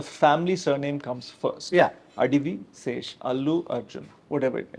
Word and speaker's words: Adivi Sesh: So, because Rahul Ravindran told me that he calls you Adi Vishesh, and that name has stuck in my head, and I'm trying to not say Adi Vishesh.